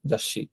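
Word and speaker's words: 雑誌: তো দেখেন এই যাসি, এখানে কিন্তু উচ্চারণ লেখা আছে, হ্যাঁ, যাসি, অর্থাৎ এই সুটার আলাদা কোনো উচ্চারণ হচ্ছে না, কিন্তু এই সিটাই কিন্তু ডাবল উচ্চারণ হচ্ছে, হ্যাঁ, যাসি।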